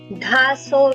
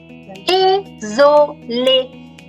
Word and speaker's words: désolé: Dhaso, no. Like resume, it is désolé.